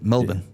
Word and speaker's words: Melbourne: we're here in this place that has an R but we don't pronounce it yeah melbin yeah melbour yes um